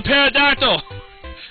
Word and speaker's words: pterodactyl: It's a pterodactyl! Where the P is silent because that guy was a douchebag.